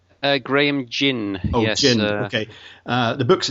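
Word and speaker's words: Graham Gynn: book um which you've co-authored with is it gam gin am I pronouncing that correctly uh gram Jinn Jin okay uh the book's entitled return to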